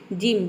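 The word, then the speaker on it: gym: जिम, जिम में देख सकते हैं कि जी के बाद वाई आया है, ठीक है।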